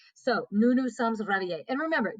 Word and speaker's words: réveillés: So nous nous sommes réveillés. And remember, these e's and s's do not affect the pronunciation.